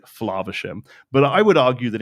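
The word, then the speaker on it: Flaversham: So, Lorcana Villain Baker pronounced the last name as Flavisham. Okay. And he is right in as much as that is how the character himself would pronounce the name. Okay. Flavisham.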